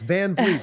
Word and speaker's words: Van Vliet: having us thanks for you did say it right yes Van Vleet thank Vleet we had